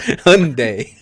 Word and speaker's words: Hyundai: It is, yeah, it's Hyundai.